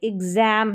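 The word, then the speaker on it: exam: कुछ स्पेलिंग्स में एक्स पढ़ा जाता है एक्स को और ज़ पढ़ा जाता है। जैसे एग्जाम है। एग्जाम। ठीक है? एग्जाम और यह है बॉक्स। एग्जाम में ज साउंड आ रहा है और बॉक्स में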